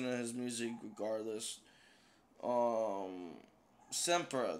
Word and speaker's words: SXMPRA: his music regardless um semper that's how you pronounce it okay shout out to